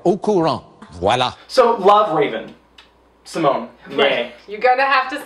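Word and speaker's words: Raven-Symoné: Raven Simone Raven Simone no Simone is how you say her name they were over pronouncing it so hard well because everyone called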